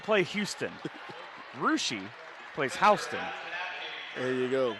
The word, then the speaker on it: Russia: For it seems like common words, there are a lot of different pronunciations for words. I'm going to say Russia. Ooh, Rushi. Rushi, okay, Rushi.